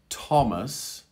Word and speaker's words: Thomas: now in in english th can also be a t sound in these particular words thomas thomas thailand thailand hello